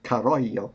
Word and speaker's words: Carollo: By the way, I want to say Carollo because I live in California, so I'll have to catch myself, but it's Italian pronunciation.